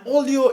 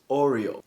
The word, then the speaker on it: Oreo: But according to me, this is the sound that comes out of a Bemba man's mouth whenever he tries to pronounce the biscuit Oreo.